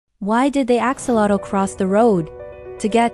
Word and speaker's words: axolotl: on the planet, the axolotl. Let's get into 20 amazing facts you probably didn't know about these smiling salamanders. First off, their name is pronounced Axolotl and comes from the Aztec language, meaning water dog.